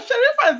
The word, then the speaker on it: Sherifa: how to pronounce her name I think it's sharifa let's see if I pronounced it correctly please welcome sharifa to the show Good morning yeah Shera sherifa is easy right it is I just didn't